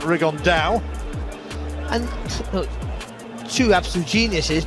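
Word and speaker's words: Rigondeaux: about fighting rigond though or as he's correctly pronounced with the uh the Spanish accent rig on Dao and look two absolute Geniuses but it could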